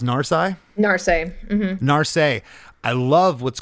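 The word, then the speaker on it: Narsai: one I love it and your drummer is pronounced narai Nar Nar I love what's going on here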